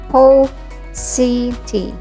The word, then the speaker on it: paucity: Say it as paucity and not paucity. Again, the pronunciation is paucity.